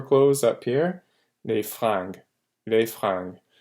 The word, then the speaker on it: fringues: Don't confuse it with les flingues. Flingue is guns, fringue is clothes. Okay, so this R here. If it's spelled with an L, that's guns. With an R, this is clothes.